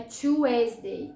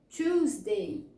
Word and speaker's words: Tuesday: Não é Tuesday, tá? É Tuesday, Tuesday. Sílaba tônica, Tuesday.